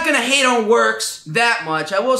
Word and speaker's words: Worx: worx brand of oscillating multi-tool 20 volt that is spelled wrx all right i'm not gonna hate on works that much i will say this it does